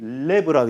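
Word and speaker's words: לב: 성경은 구약 성경에 마음이 레브라고 있어요. 한번 발음 한번 해볼까요? 레브. L-E-B예요. 레브. 또는 레바브.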